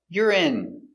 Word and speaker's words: urine: Yur I I urine stress on the first syllable.